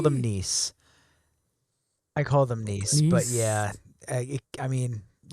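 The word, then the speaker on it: nisse: And then it would be nissa. So nothing like niece. Okay. English, most people in English pronounce it nis like hiss.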